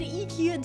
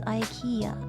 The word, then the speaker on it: IKEA: That's the name of an IKEA table. Everything is the name of an IKEA table. I always called it IKEA, and I was told by a Scandinavian, it's pronounced IKEA, you uncultured swine.